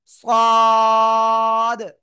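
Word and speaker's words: ص: তো এখন আমরা যে অক্ষরটা শিখতেছি সে অক্ষরটা হলো এই অক্ষরটা জিহ্বার আগা সামনে নিচে দিদের পেটও আগের সাথে লাগিয়ে একটু মোটা আওয়াজে উচ্চারণ করতে হবে চার আলিফ টান হবে সদ সদ সবাই একসাথে জোরে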